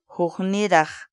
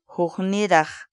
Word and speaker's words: hukniraq: of the day for today is horny de whoo-hoo needa whoo-hoo needa in English the Quechua word whoo-hoo needa means different for example Young America who need